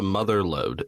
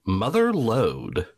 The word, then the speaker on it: mother lode: it's not called the motherload it's called the mother lode the guy in the opening crawl pronounces it very weird like it's two separate words the mother lode yeah